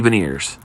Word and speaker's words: Beniers: Matty Beniers. Rhymes with veneers.